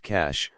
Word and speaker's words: cache: they would find a cash pronounced cash but it was not